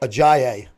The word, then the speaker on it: Ajayi: Ajayi.